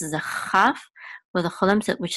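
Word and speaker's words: כֹּל: Here, this is pronounced chol, but it's the same exact word meaning.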